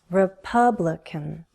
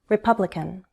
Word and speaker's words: Republican: Republican. Republican. Primary stress is on the second syllable. Republican.